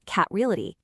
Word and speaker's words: KAT Realty: And that's how Kate Reality Group, and by the way, it's pronounced cataly came to be.